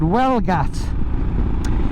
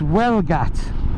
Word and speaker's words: Huelgoat: is a place called Welgat, although it's spelt, if you're going to pronounce it the English way, it's spelt Huelgoat, yeah, but it's Welgat is what they say.